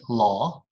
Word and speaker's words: law: the word awesome awesome but law i study law right very popular statement i study law jaw this is my jaw right law jaw not love love i study love no no i study law okay awful awesome wow that's